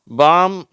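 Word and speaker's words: palm: என்ன உச்சரிப்போட வருதுன்னு பார்ப்போம் காம் பாம் எல் ஃபில் இந்த ரெண்டு வார்த்தையில எல் வந்து சைலெண்ட் ஆயிடுது ஓகேவா இந்த வார்த்தையில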